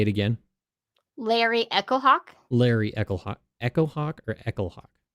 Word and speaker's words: Echohawk: Larry Echohawk? Larry Echohawk. Echohawk or Echohawk? It's all one word, I believe. It's like it's spelled like the word echo and the word hawk.